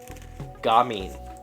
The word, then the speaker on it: gamine: Gamine. Gamine. I have never heard that. That's the pronunciation. I would have said gamine or gamine, but gamine.